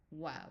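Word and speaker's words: واو: Um and sometimes the we don't have a V, so we also borrow a V from another language. So here it's a wow. Wow. So it's not V, it's not V, it's wow. Wow.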